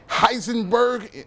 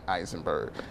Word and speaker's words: Eisenberg: Jesse Heisenberg. I know it's Eisenberg.